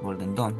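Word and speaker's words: Golden Dawn: una búsqueda en la Golden Down, en Don, Golden Don se pronuncia.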